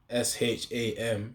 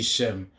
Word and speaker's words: Sham: the and then sham s h a m sham means uh uh name uh in the scriptures you will see Shem but the thing is Shem isn't the real way it's spelled sham so yeah yahwah bahasham